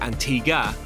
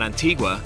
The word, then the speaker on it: Antigua: Our tour guide began by explaining that the reason the island's name is pronounced Antigua rather than Antigua is that although Christopher Columbus named the island after a Spanish church, so it was originally called Antigua, once the British colonized